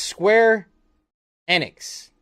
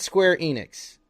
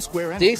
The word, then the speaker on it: Square Enix: It's pronounced square annex, not square enex remake from Square Annex.